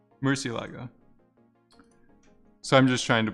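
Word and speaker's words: Murciélago: Well, how do you spell it? Murlago? Murcielago.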